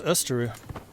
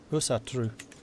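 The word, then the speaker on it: Ásatrú: Norse Österu. Usatru. Keep on getting that one wrong.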